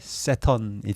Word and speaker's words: Saturn: 그리고 사투르누스를 영어식으로 발음했을 때 세턴이 되는 겁니다.